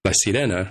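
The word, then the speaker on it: La Sirena: pondering and curious about is it la sierena or la cidena and i wasn't really going by how the show pronounced it right i went to to look it up and as far as i can tell i believe it is by sirena without the enye part at least as i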